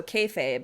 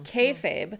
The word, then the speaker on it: kayfabe: someone said online that the way to pronounce it is it's like akin to hey babe. So kayfabe hey babe kayfabe which refers to the industry practice of pretending the wrestling is real.